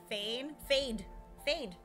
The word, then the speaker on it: Fade: Fade, right? Fade, F-A-D-E, like fade to black. Ralpha. Or is it F-A-I-D? Well, pronounced like a fade.